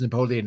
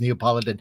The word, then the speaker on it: Neapolitan: I don't think it's pronounced Napoleon. I think it's Neapolitan.